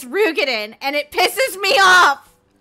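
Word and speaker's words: Roegadyn: finally pronounce that race it's not Rogen it's rugen and it pisses me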